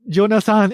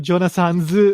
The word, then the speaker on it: Jonathan's: So and then why is it Jonasan instead of Jonasan's, even though it's the apostrophe S there? Just because it's easier to pronounce. So Jonasan instead of Jonasan's. And I do agree that is easier to pronounce, but it's not what's written on the sign.